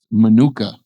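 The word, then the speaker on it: מנוחה: Menucha. And I had to actually ask Google how to say that because it's spelled like manua. I didn't want to get those two confused. Menucha, it does not mean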